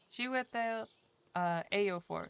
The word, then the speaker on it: Chiwetel Ejiofor: Chiwetel Ejiofor. Let me make sure I pronounce his name right.